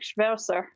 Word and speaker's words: Schwirzer: german german descent okay yeah so it's like schmerser all right it's in the german right so